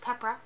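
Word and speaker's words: Pepero: So it's Peppera, or spelled Peppero, but it's pronounced Peppera, according to my Google.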